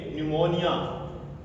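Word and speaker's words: pneumonia: एन ई यू एम ओ एन आई ए निमोनिया ठीक है तो इसमें भी पी हमारा साइलेंट रहेगा यहां पी के तुरंत बाद एस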